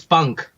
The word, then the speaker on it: PUNKH: group correct p n k give me the pronunciation it's Punk okay uh punk in Hindi would mean wings